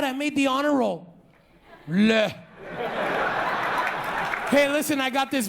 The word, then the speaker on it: leh: It's called leh. It's spelled L-E-H, okay?